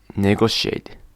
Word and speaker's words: negotiate: But like in negotiate, it's sh. It's pronounced like sh.